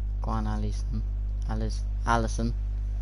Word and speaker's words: Alisson: Go on, Alisson.